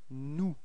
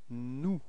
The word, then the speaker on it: nous: And then first person of the plural, it's nous. Repeat. Nous. Okay. So you've got this final S, but you don't pronounce it.